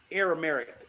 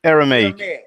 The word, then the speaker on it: Aramaic: copies that were in aramic am I saying it right Aramaic Aramaic yes josea wrote in that